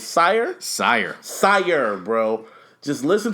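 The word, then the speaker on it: SYRE: man how do you say his name s sire sire sire bro just listen to the first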